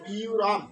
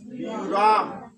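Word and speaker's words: ব্যূহম্: তাহলে এই কারণে আমাদের কি উচ্চারণ হলো বি, তারপর একটা অন্তস্থিত থাকলো, তাহলে বি ও র আর ম রম, তাহলে বিউ রম। তাহলে উচ্চারণ কি হলো বিউ রম।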